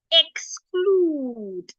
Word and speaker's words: exclude: should sound a and we have a c after the X C is a voiceless consonant so X should sound CL so together we have exclude now let's go to